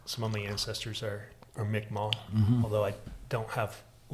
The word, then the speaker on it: Mi'kmaq: And it was just known that he, you know, he was Mi'kmaq. Micmac, they said then. Yeah. I think the pronunciation changed.